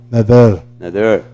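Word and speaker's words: נדר: Resh, y la palabra se pronuncia, o se translitera como Nader, y significa voto.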